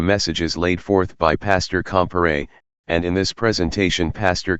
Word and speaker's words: Comparet: presented by Bertrand Lewis comparat pronounced compere and Bertrand Lewis compere